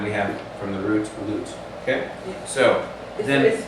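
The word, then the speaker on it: לוט: So we have Lot, and then we have from the root, Lut.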